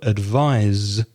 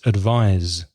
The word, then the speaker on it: advise: so it's advice advice the verb advise has an S but it sounds like a Z no theta so it's advise advise what do you